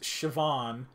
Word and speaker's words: Siobhan: Somehow, don't ask me how it's pronounced Siobhan. You know, I was literally gonna guess that the SIA was like sh or something, but yeah, that's weird, dude.